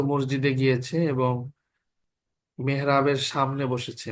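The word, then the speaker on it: موسى: দেখো ঈসা এবং মুসা এই দুইটার মধ্যে কিন্তু আলিফ উচ্চারণ হচ্ছে। ইসি বলি, ইসি মুসি বলি আমরা, নাকি ঈসা মুসা বলি? আলিফ বলছি না, ঈসা মুসা, আলিফ উচ্চারণ হচ্ছে না।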